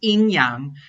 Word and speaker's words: yin and yang: heard of the phrase yin and yang which in chinese is pronounced in yang and we apply the